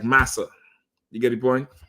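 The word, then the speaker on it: Marse: It's saying it's like saying massa, not master.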